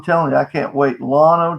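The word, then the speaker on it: Llano: you i can't wait lono texas is spelled l-l-a-n-o have to look it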